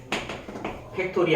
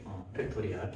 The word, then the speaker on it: 팩토리얼: 자, 뭐 고등학교에서 배우는 거지만 5하고 이렇게 느낌표 하나 적고 얘를 뭐라고 읽냐면 팩토리 아니고 팩토리얼이라고 읽어. 팩토리얼, 5팩토리얼.